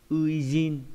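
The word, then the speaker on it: 初陣: Đọc là ui trong từ uijin, chữ sơ với chữ trận có nghĩa là trận đầu tiên.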